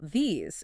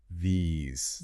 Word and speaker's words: these: Now, compare that to the plural these. It has a long E sound, like in cheese or please. But the real secret is the end of the word. It has a buzz. These. These. Yeah, I can feel that vibration in my throat. That Z sound is the tell.